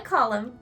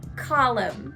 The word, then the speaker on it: column: Notice that we spell it with an N, but the N is silent. Column.